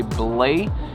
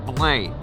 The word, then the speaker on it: Belém: learned that in Portuguese, this word is spelled differently and it's kind of pronounced with a nasally sound, so you kind of say Belém. You can even hold your nose to get the right sound. This kind of sounds like Belém.